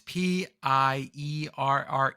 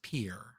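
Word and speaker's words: Pierre: R E and it it's like pure like Piers Morgan type pronunciation.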